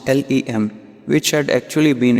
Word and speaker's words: LM: Then there was the Lunar Module, LM, pronounced LEM, which had actually been